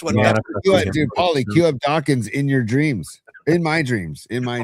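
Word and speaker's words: Dokken: Dawkins rhymes with rocking and I'll never forget it. I like Dockan.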